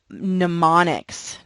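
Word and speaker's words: mnemonic: of us right and pneumonics now this is a funky word just make sure that m is silent just cover that up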